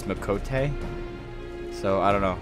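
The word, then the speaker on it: Miqo'te: For a long time, I said Mikate, but it's Mikote.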